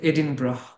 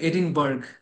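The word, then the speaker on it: Edinburgh: স্কটল্যান্ডে university of এডিনব্রা আপনি যদিও উচ্চারণটা দেখে মনে হবে এডিনবার্গ বাট উচ্চারণটা ওরা এডিন ব্র তো সেই হচ্ছে এটার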